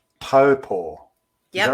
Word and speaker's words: Taupo: Now you grew up in a place called Taupo. Yep. Is that right? Toe as in foot and paw.